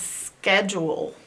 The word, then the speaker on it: schedule: Schedule. Sk, e, d. Ooh. Ul. And we gotta have what makes this U say its long ooh sound, the magic E. Where's the magic E? Right there. Okay, so the rest of this is normal. The rest of this sounds like it should sound.